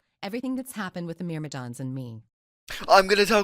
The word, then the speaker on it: Myrmidon: Myrmidon.